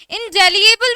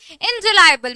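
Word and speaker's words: indelible: ठीक, इनडेलिएबल भी बोलते हैं बट it's correct pronunciation is इनडिलायबल।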